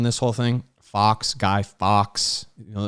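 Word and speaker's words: Fawkes: whole thing Fox guy Fox you know it's spelled f-a-w-k-e-s it's pronounced it's it's uh it's a homophone of the word Fox they're both they both sound the same when you speak them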